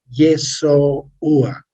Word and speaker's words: Yeshua: Por ejemplo, dice, en griego antiguo, que es el quiné, es Yeshua. Lo pronuncié despacio a propósito, ¿no? Yeshua.